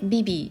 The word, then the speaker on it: bivvy: で、綴りが BIVVY でビビって読むんですけ